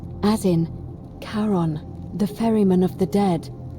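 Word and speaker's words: Charon: it's just as you described it only your pronunciation is a little off the name you heard wasn't Karen it was c h a r o n as in karon the fman of the Dead karon who in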